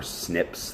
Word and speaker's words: SNP: meant to be but SP s are snips that's what they that's how you say it snips it's a type of